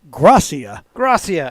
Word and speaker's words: Garcia: He's actually pronounced it Gracia. Gracia.